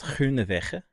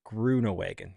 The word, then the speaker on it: Groenewegen: So the actual Dutch pronunciation is Groenewegen. Yeah, I wouldn't have got we wouldn't have I'm got not that. even that good. But the Englishized version is Groenewegen. Grew, like a plant grew.